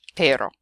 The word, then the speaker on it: pero: So say petter and then say O, and say it over and over again as fast as you can until eventually, hopefully, it will go from pero, pero, pero, pero, pero, and you'll turn it into that word pero.